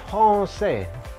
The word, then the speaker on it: français: Yang pertama kata franchise ini nih, dibacanya français. Français. Dari mana dibacanya français? Ini aja udah jelas banget nih tulisannya franchise, bacanya français. Yaitu ada pertama huruf R-nya bahasa Prancis, cadel, R.